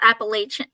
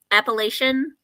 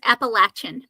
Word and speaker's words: Appalachian: I said it wrong it's not appalachi Appalachian Appalachian that sounds so wrong to me yeah that's appalachin okay will you remember